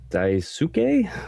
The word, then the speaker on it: Daisuke: And then our final character is Daisuke, I think is how you would pronounce his name.